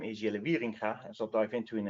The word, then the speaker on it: Wieringa: It's pronounced Wieringa.